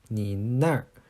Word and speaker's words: 你那儿: So sometimes after certain words, even though we don't write in R, then it's still pronounced with one. So this is the case with na. So there's kind of like a hidden R with it.